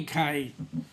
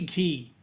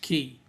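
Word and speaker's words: Cay: It can't be K. It's got to be key. They spell it wrong, but it's pronounced key.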